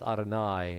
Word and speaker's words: Adonai: hay or sometimes a yud yud both are pronounced adonai and that's seen as god's most direct name